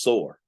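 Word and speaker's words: צור: pronounce it there, but Hebraically it's just sore.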